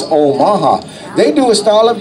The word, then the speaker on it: Omaha: heard of Omaha okay what's the same thing but the proper pronunciation is Omaha they do a style